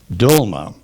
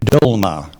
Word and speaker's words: dolma: the word please sure dolma dolma alternate pronunciation yes dolma dolma dlma d u l